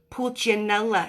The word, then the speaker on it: Pulcinella: Because I thought it was pulcinella. Am I saying it right? Right? So let me know on the pronunciation. Because I think you do those C's like ch in Italian, right?